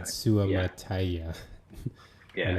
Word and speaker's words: Suamataia: Um, well, number one is that I realized that after correcting my pronunciation of his name, I still didn't have it right, and that's Kingsley Suamataia is how you say his name.